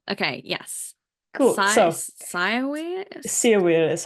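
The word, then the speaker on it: Cyr wheel: Seawheel is how you pronounce it, apparently.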